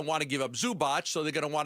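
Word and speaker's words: Zubac: think they're going to want to give up Zubot. So, they're going to want to give up guys like Dunn and Powell and Bdanovic if they're not giving up Zubot.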